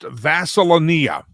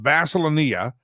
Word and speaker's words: Vaselania: So her she's being named instead of being Vaselania, which of course does sound a lot like Vaseline and it's spelled very similar, but it's actually Vaselineia.